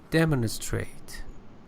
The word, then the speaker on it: demonstrate: And demonstrate, the first syllable as a verb.